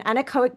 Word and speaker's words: anechoic: is the word that I need you to pronounce for me as well. From the 500 hours in is it anechoic?